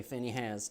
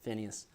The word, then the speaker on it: Phinehas: I say Phinehas, and I have a friend of mine who is not Southern, and he says Phineas.